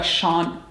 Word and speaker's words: Shun: Now my second knife is going to be the shun knife. I should say it correctly, shun.